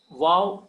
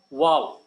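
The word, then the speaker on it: Waw: So Vav plays very important role. In modern Hebrew, it is pronounced as V in wine, but in classical biblical Hebrew, which we are learning, it is pronounced as W.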